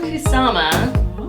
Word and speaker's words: Kusama: of p and puke we're talking about Karin kusama I just learned how to say this 2000